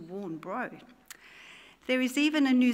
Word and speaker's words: Warnbro: They've changed the pronunciation of the suburb name from Warnbra to Warnbro.